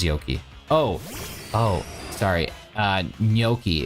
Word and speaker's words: gnocchi: Yoki what is Yoki oh oh sorry uh gnocchi it's G I think people pronounce it many different ways but the Italians would spell it that way some people say Naki or gnocchi or I've heard many people pronounce